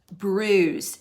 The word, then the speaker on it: bruise: have bruise the bruise don't forget it has a silent letter on the end silent letter on the end of bruise number six fifteen sorry